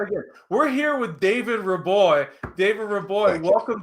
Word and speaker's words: Reaboi: I should have got the pronunciation before we started, but we're here today with David Reaboi.